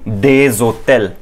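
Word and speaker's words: des hôtels: सो अगर हमारे पास ये एग्जांपल हुई सम होटल्स, ओके, प्लुरैलिटी में सम होटल्स, दिस विल बी डेजोटेल, डेजोटेल।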